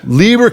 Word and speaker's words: Lieberknecht: Please pronounce it for me. Liberan.